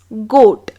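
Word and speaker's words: goat: है सो इसीलिए जी ओ ए T become गोट चूंकि यह नियम मजेदार है बच्चों को बहुत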